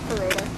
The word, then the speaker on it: Perrotta: Is it Perrotta, like P-E-R-O-T? Perrotta. Okay. It's Perrotta.